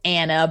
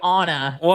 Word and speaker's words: Anna: my name, I say Anna as well because phonetically it is Anna. But unfortunately, my parents wanted to be bougie and uh the pronunciation is actually Anna.